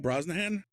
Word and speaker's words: Brosnahan: Brosnahan.